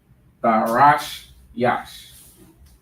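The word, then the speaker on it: Tarshish: Tharash Yash. That's how you pronounce that.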